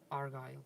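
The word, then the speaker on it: Argyll: Looking forward to better weather in is it the Argyle in Scotland? Is that how you say it? Argyle. Yes, yeah.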